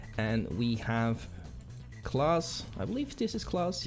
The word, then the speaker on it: Klaas: maybe maybe german but i believe the correct pronunciation is class for that so we have murto